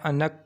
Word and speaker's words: آنق: الرحیم۔ Welcome to baby names diary. نام ہے انک۔ انک نام کے انگلش میں سپیلنگ ہے ANQ انک۔ انک نام کا اردو